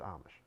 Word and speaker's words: Amish: It's spelled Amish, but it's Amish.